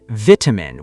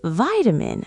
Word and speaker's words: vitamin: In Britain, vitamin. We say the first syllable like vit. In America, vitamin, vitamin.